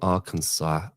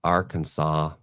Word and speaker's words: Arkansas: Um I'm from Arkansas. Arkansas. Why is that a French word Arkansas or is it um Native American? Cuz you don't pronounce the S at the end, do you?